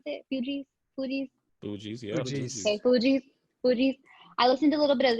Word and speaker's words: Fugees: And I did listen to a little bit of the, how do you pronounce it? Fugees? Yeah. Fugees.